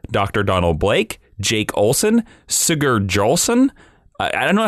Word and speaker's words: Sigurd: Donald Blake, Jake Olson, Sigurd Jolson. I don't know how to say it. It's S-I-G-U-R-D.